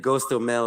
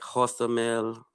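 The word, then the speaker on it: Hostomel: like you were saying like goes to mel it's more like hosta mel you know like h and um i'm trying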